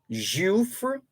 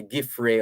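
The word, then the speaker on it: Giuffre: reaches settlement in virginia this looks like a french name juff jufr g-i-u-f-f-r-e virginia jewf but being america they're not going to keep that pronunciation there perhaps say giffrey or jeffrey or something like that but prince andrew reaches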